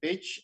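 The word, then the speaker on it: Pécs: You know in Hungary CS is pronounced as chi. So I'm in a city called pitch.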